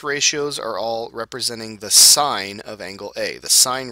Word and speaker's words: sine: first one is pronounced sign okay it's pronounced like the word SI GN sign all right but we